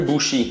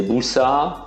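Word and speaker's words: 武士: Mais ils se prononcent plus bushi. Déjà, il faut oublier. C'est busa. Si vous êtes à d'autres endroits, c'est busha.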